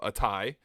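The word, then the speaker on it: ATAI: my uh one of my other videos so a tie and let's do mind med and let's do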